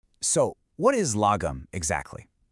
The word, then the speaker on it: lagom: So, what is logum exactly? First off, you say it like lum.